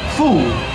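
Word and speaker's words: 福: men's t-shirts today is the character that is pronounced fu fu means good fortune blessings and happiness China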